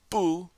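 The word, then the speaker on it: 不: affirmative negative question and notice how I'm pronouncing Bo bu traditionally pronounced fourth tone remember it changes tones to the second tone when it's followed by a character that is also a fourth tone so we would say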